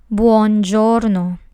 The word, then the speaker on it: buongiorno: Next, we have buongiorno. This word has 3 syllables.